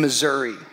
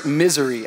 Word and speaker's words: Missouri: found myself in Branson Missouri it's gorgeous it's gorgeous um Missour missoury I mean Missouri Missouri Branson M Missouri Missouri Missouri is how you say it God bless all